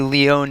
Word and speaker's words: Leonie: Paul, is it Leone or Leone? That would be Leone, as I was also confused on the pronunciation, but I have learned it was Leone who's opened up the scoring for the Big Blue.